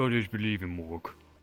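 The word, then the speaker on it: Mork: Others believe in Morg. Your gods rhyme with orc.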